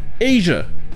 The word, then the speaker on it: Asia: Comme par exemple, si vous parlez du continent, l'Asie, on dira Asia. Le SI se prononce je, Asia.